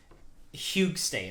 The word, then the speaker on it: Hygge State: I'm here with uh huge State I hope I pronounced that right yeah there you go yeah so um I